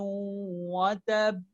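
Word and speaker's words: وتب: You stress on the last letter that has a shadda in order to show there are two identical letters there. Tabbat yada abi lahabin wa tab.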